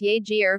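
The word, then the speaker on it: Jager: House Obama's relationship with jaeger pronounced yagier was dissected in the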